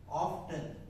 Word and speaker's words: often: Often. Is often O-F-T-E-N. Is it often or often? Often. T is silent.